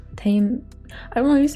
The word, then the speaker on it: Tame Impala: talk about one of is it tama impala is how you say his name tame i want you to